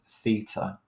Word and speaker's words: Theta: or the Roman alphabet this is from the Greek alphabet and it's pronounced Theta um but it's that